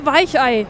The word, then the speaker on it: Weichei: You know, I'm a Weichei, as the Germans say.